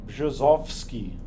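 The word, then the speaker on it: Brzozowski: is something like bosski the RZ sounds like uh J and the B sounds like B so it's bski uh this is called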